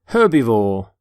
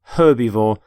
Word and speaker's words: herbivore: You pronounce the H in the word herbivore.